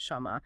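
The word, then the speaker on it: שם: They always pronounce it shama with that a vowel sound even though the standard written text doesn't explicitly show that vowel or the word for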